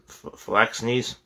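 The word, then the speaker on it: phalanxes: heavy hoplite flex knees that's why you pronounce that it's p-h-a-l-a-n-x-e-s um phyllax knees but on this occasion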